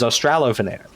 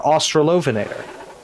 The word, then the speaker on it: Australovenator: Australovenator, or Australovenator, or Australovenator, or Australovenator, or another pronunciation along those lines. The one that has Loveinator in it is the one that I was told is the correct Australian pronunciation of it.